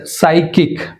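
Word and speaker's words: psychic: and next సైకీ P silent సైకీ right next సైకిక్ ఇక్కడ కూడా P silent సైకిక్ అంటే పి మరియు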